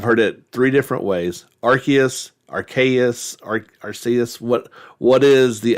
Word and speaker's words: Arceus: I mean, that's what I always used to say Arceus, but then I either saw the commercial on social media or off your YouTube channel, and Mm. then they pronounce it with the hard C.